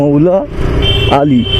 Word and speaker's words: মৌলা আলী: তো উচ্চারণটা ভুলের জন্য সবাই মৌলালি বলে, আর সেই থেকে জায়গাটার নাম মৌলালি হয়ে গেছে, কিন্তু আসলে ওটা কি মৌলা আলী একজনের নাম।